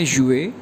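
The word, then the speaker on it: 月: Month को Chinese में कहते हैं युए, YUE फोरटोन के साथ, तो ये प्रोनाउंस करेंगे युए युए युए जी।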